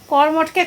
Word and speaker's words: কর্মঠ: উচ্চারণটা ভালো মতন না করলে তো এরকম অবস্থাই হবে। কর্মঠকে কমঠ বললে হবে? কর্মঠ কর্মঠ পরিশ্রম কর্মঠ।